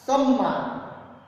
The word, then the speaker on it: सम्मान: आप आठवें बॉक्स में देखेंगे तीन शब्द दिए हुए हैं समान, सामान, सम्मान। समान, सामान, सम्मान। उच्चारण पर ध्यान देंगे आप, थोड़ा बहुत डिफरेंट है।